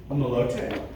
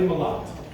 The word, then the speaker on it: Malat: All right, next, please come forward, Riley Malote. And I probably didn't pronounce that right either, so I'll need a correction. Is Riley here? Malat? Is it Malat? Yes. All right, Riley Malat.